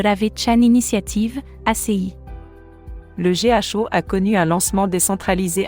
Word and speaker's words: GHO: à jour majeur concernant le GO se prononce Go son stable coin sur